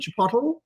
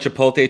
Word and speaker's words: Chipotle: Chipotle? Some people call it Chipotle, Chipotle. I get made fun of because I think I do it with the L silent.